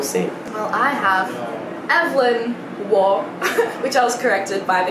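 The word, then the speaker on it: Waugh: fast-paced so we'll see well i have evelyn war which i was corrected by because i thought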